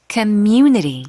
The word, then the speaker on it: community: Now, this word community is a bit tricky to pronounce, difficult for me even, so let's practice it 2 times. Sure. Community. Community. One more time. Community. 크로 시작해서 뮤에서 끌어주세요. 강세 주고.